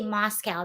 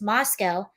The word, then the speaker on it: Moscow: I keep wanting to say Moscow because it's spelled the same as Moscow, but it's Moscow, Idaho.